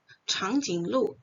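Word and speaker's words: 长颈鹿: Jadi terus diperhatikan nadanya, changjing lu, changjing lu, gitu.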